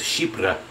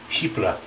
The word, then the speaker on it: Chypre: And female voice comes on and goes, Chypre, French. Chypre.